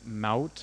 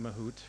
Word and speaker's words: Mahout: a project called Apache mouth I've been calling it mahout for ages but it's it's pronounced like trout the fish and it is it's